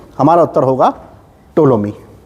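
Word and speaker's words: Ptolemy: के दरबार में आया टोलमी इसमें पीस साइलेंट है इसको टोलमी पढ़ते हैं टोलमी किसी के दरबार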